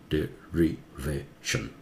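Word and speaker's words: derivation: उसे सिलेबल बोलते हैं, डेरिवेशन, चार सिलेबल है, शन के आगे वाला सिलेबल जोर से होता है, वो रूल है, वो ऐसा 50 रूल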